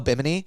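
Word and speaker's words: Bimini: I'm on an island called Be Meanie off Sorry if I pronounced that wrong. Offimony Oh, Biminy.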